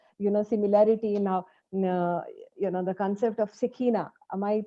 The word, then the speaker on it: Shekhinah: have seen the, similarity now, the concept of Shekinah. Am I pronouncing it correct? Shekinah, that it's a Shekhinah.